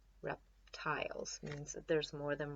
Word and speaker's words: reptile: cover it up then we have an e eval constant e syllable so the eye is gonna say its name the e is gonna say nothing nothing so we have I oh tile let's put it together rap tile reptile and then we put the